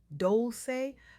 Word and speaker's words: Dolce: I'm your host Dolce pronounced dolce like sweet softness whispered in French.